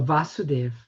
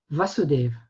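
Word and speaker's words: Vāsudeva: are the sons of vasudeva vasudeva there's a difference you can see but the it's the diacritic mark is on the a so it's a long a vasudeva against vasudeva so krsna's father's name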